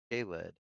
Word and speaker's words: Kalid: You know how I don't know why the L on your head, but it's a K and then lid, like you're wearing a hat. K lid.